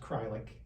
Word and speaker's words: Kreilich: So nobody can spell or pronounce my actual name, but it's pronounced Crylick when you actually see it.